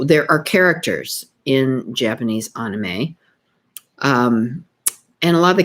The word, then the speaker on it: anime: So anime, I have been pronouncing it wrong all these years. I was pronouncing it anime, like animation, but it is actually pronounced anime, AHKNEEMAY.